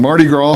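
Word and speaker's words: Mardi Gras: Orleans style tunes on Marty Gro from 6:00 to 8:00 p.m. Marty Gro Fat Tuesday Marty gr is the uh French pronunciation of Fat Tuesday Marty Mar you make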